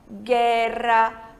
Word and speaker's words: guerra: Quando esse dígrafo, que é o encontro dessas duas letrinhas, vem antes das vogais E e I, a gente não pronuncia a letra U, né? É igual ao português, a gente não fala guerra, a gente fala guerra. Então, em espanhol, guerra, guia, guilhotina, tá certo? Quando a letra U em